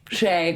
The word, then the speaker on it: Chae: Chae.